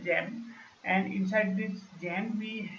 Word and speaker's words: XAMPP: Under jam directory you have XAMPP. It is pronounced as a jam, and inside this jam